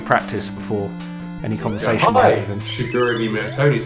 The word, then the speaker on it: Shigeru Miyamoto: Shigeru Miyamoto. Shigeru Miyamoto. Your pronunciation sounds right. Mine definitely isn't, and I kind of know that.